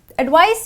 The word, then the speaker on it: advice: Advice with a CE is pronounced with a soft S.